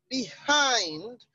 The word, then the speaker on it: behind: The option C, behind, has a stress on the second syllable, behind. So, in that case, the answer to that question, because the one with a different stress marker, that's the instruction. So the one with a stress pattern is behind. The stress is on the hind.